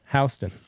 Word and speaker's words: Houston: Okay, Houston is how you pronounce it.